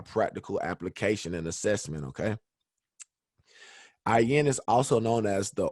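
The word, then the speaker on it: אין: And if you listen to how the word ayin is pronounced, it almost sounds like you're saying I in. which is pretty neat and a pretty cool thing when you look at it, because the symbol for IN is a closed I. So that makes sense. The difference is when you pronounce IN, it's more so with a guttural, throaty sound at the beginning.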